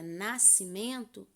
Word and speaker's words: nascimento: e o edson dks a palavra nascimento eu tenho 10 letras e oito fonemas porque o s eu não vou pronunciar eu tenho sc mas o som não sai do s e em nascimento esse